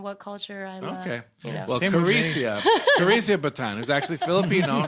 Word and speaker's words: Karesia: if I'm meeting someone, because in Spanish it's pronounced Karesia, so I've just kind of learned to respond to different versions of my name depending on what culture I'm. Okay. Well, Karesia Batan, who's actually Filipino, not Hispanic, is here.